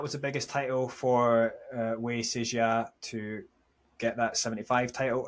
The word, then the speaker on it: Wei Sijia: Yeah, so Sijia Wei Sijia, as it should be pronounced according to Chinese convention, right?